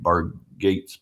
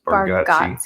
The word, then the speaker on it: Bargatze: Bargatze. Bargatze.